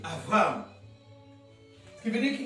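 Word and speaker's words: Avraham: Lorsqu'il y a un point, ça se prononce B. Quand il n'y a pas de point, ça se prononce V. Comme Abraham, où on dit Avram.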